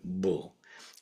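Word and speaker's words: 불: In sino Korean this would never be done. Um the single car the same single character would always be pronounced as just bull.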